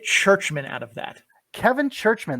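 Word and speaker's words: Czuczman: Kevin Churchman. There's 2 Z's in there and a C. And no H's. And no H's. But that's how I've heard it pronounced.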